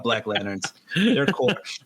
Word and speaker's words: Corps: They're core. I was trying to pronounce the P without pronouncing the P, but I pronounced the P.